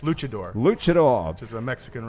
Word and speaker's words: luchador: Renzo is a filmmaker who's working on his second feature film, I Am Luchador. Is that how it's pronounced? Luchador.